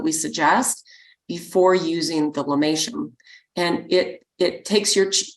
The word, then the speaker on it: lomatium: quick Google search and the the the plant is spelled LOM a t IU M and it's pronounced lomatium so this is one